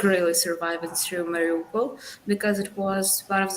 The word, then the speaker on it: Mariupol: the story heroes, and she is from Morpolio. I want to say it right, Mariupol. Mariupol.